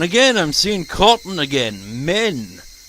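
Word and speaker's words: 綿: Men. Literally men. That's how you pronounce cotton.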